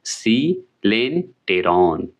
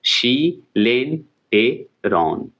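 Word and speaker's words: coelenteron: शी लेन, जो उच्चारण इसका बता रहा हूँ, सी लेन टे, याद रखिएगा, और रॉन, RON, रॉन। तो क्या हो गया? सी लेन टेरॉन, याद हो गया ना, शी लेन टेरॉन।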